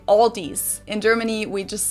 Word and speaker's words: Aldi: In English, people usually pronounce this Aldi. I think I've also heard Aldi before, but I think most people say Aldi. Or they also sometimes add an S that isn't there in the end and say Aldis.